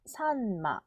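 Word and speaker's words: さんま: 글자요 한 박자를 가집니다 박자를 주의하면 이것도 한국어에 받침 들리기 때문에 두 박자로 읽기 쉽거든요 삼마 삼마 이렇게 하기 쉬운데 사은 마 산마 삼마라고 확실하게 세 박으로 끊어서 끊는 건 끊는다고 하니까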